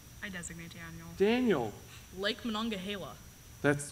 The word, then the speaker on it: Monongahela: the Ice Age I designate Daniel Daniel Lake Monongahela that's correct pronunciation too right Deborah okay good okay Reagan